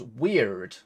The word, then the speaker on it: Wyrd: that matters to the wired seeker and to even consider anything else would bring further shame okay it's pronounced weird weird science okay so we'll find